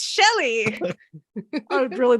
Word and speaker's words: Shelly: Her name rhymes with deli. It's Shelly.